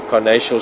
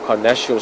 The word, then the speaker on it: carnassial: See, when she chews into that tissue, the skin and the meat, she uses the carnassial shears, or carnassial shears, I've also heard it pronounced like that.